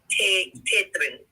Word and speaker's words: Tetetron: Tetetron is how you would pronounce it.